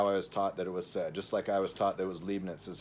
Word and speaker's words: Leibniz: just like I was taught that it was Leibniz is how Leibniz is said.